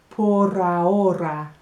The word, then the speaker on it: por ahora: Listen to la pronunciación, por ahora, with the little r, por ahora, for now.